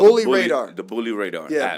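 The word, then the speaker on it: Raadr: So this is called Bully Radar. The Bully Radar. Yeah, app. Bully Radar. And radar is spelled R-A-A-D-R.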